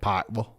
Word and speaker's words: Pikeville: in a town called Pikeville right I asked it you know how do the locals pronounce it and it said Pikeville pille and that's exactly how we say it so like it